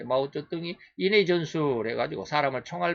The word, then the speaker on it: 마오쩌둥: 마오쩌둥이가 모태통이라고 우리는 그래 발음했는데 중국 발음으로 마오쩌둥이라고 그러는데 마오쩌둥이 인해 전술해 가지고 사람을 총알 바지로 해갖고 얼마나 많이 보냈는지 총을 쏴도 계속해서 밀려오는 중공군들에게 밀렸다.